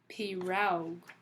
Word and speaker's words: pirogue: Pirogue.